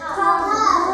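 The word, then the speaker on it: thumb: কম এটা হচ্ছে নাম টি এইচ ইউ এম বি এই যে বুড়ো আঙ্গুল কি বলবো এটাকে থাম কেউ দিয়ে উচ্চারণ করো না কি বলবো থাম থাম থ আকার ম থাম কি বলবো থাম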